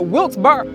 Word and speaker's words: Wilkes-Barre: Wilkes-Barre. See, we all pronounce it differently.